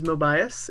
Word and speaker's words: Mobius: character um my character his name is mobius it's spelled like mobius strip but who is mobius